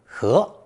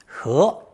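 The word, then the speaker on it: 禾: still on the stalk, pronounced second tone, he, he.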